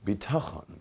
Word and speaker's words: bitachon: Lacks bitachon. Bitachon, everyone practice that Hebrew word, bitachon.